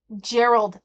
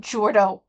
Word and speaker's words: Gerald: to say it but it's Gerald not jordo it is J it